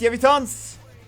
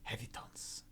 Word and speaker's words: Yevitons: You pronounce it Hevitons? It's like Hevitons. Okay. Hevitons.